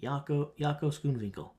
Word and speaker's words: Jaco Schoonwinkel: Jaco Schoonwinkel.